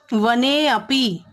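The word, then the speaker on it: वनेऽपि: वने प्लस अपी, ए प्लस अ, तो वने अपी, इसका भले ही ये अ यहाँ पर लिखा नहीं जाएगा परंतु उच्चारण उसका यही होगा, वने अपी।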